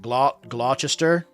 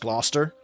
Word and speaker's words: Gloucester: Glauchester, but it's actually pronounced Gloucester or um Worester sauce where it's like worchesterershire sauce.